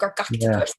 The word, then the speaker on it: Gargoctopus: You gotta say in the back of your throat, Gargoctopus.